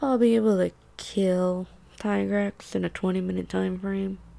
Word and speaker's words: Tigrex: Tigrex? Tigrex. It's literally Tiger. Ringer with an X. I can't do Tigrex.